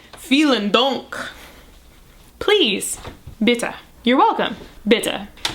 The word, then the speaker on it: Vielen Dank: Which I remember by saying vielen Dank.